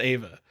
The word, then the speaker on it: Eva: I think it's pronounced Ava.